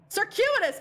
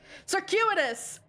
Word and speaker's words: circuitous: Circuitous. Actually, I don't even know how to pronounce this. Circuitous. I was going about it completely the wrong way. Circuitous.